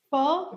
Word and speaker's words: pho: Pho?